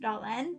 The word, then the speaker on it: Dylan: in Upland swans Wells Dylan's name is really pronounced danan that is the Welsh pronunciation of his name but Dylan preferred the English pronunciation he would even correct